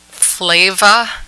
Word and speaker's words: Flava: The restaurant will reopen as Flava. It's spelled Flayva.